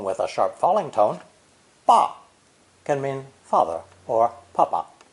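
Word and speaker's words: 把: Ba, pronounced with a rising tone, ba, means to pull out or extract. Ba, with a low dipping tone, ba, means to grasp something. And ba, spoken with a sharp falling tone, ba, can mean father or papa.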